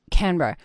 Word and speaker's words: Canberra: So when you moved to, I'm going to say it wrong, but Canberra, Canberra, yep. Canberra.